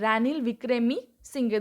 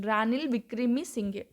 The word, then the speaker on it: Ranil Wickremesinghe: Ranil Wickremesinghe. This is the right pronunciation. Ranil Wickremesinghe.